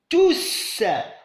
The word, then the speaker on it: tous: La dernière phrase, il n'y a plus d'élèves, tous, on se prononce S ici, tous sont partis.